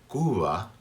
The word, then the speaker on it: Cuba: That be is in between vowels, and it is pronounced very softly, and it's almost as if my lips hadn't touched. Cuba, Cuba. Some slight vibration there. My lips are not touching completely right here.